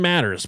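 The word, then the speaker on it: Mathers: cult was old Sam Matters, pronounced like spelled like Marshall Matters.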